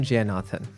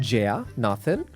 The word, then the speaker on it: Jayenathan: So today on the show, I've got with me Jayenathan, right?